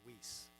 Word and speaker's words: Weiss: And by the way, my family pronounces our name Weiss, and we're probably the only ones that do. And the story is, when they came through Ellis Island 5 generations ago, they said, how do you say this in American? And they said, well, when there's two vowels together, the first one says its name.